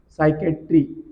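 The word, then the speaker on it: psychiatry: सायकेट्री क्या बोलते हैं सायकेट्री याद रखना पी से शुरू होती है जैसे हम बात करते हैं साइलेंट है पशु और उनकी चिकित्सा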